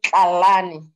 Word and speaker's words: Tlalane: thank you yes oh the right pronunciation is Kalani no there's a certain